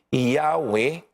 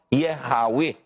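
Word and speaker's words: Yahweh: If the explanation of the form above given uh be the true one, the original pronunciation must have been Yahwe or yehawi.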